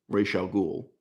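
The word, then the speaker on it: Ra's al Ghul: Rachelle ghoul some people pronounce it it is pronounced officially um when it's a black teenager meeting an elderly Arab man Rachel ghoul we later find out he's several centuries old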